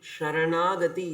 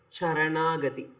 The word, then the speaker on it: sharanagati: Please pronounce it correctly. Sharanagati is different from charagati. Cha means it is feet. Sha means it is surrender.